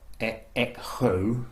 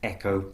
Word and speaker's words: echo: Okay, so the letter H here is really unvoiced, it's silent. You wouldn't say chemistry or echo, for example. It's not possible. It says echo, chemistry, school.